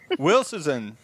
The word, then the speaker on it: Wilshusen: And Wilshusen. If I get it. How am I doing? Wilshusen. Wilshusen.